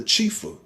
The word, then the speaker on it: chifa: native to the chinese people it's called the chifa it's spelled c-h-i-f-a and it's uh it's cantonese it's